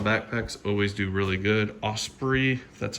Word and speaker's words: Osprey: these hiking style backpacks always do really good Osprey that's how you pronounce it the brain on this one great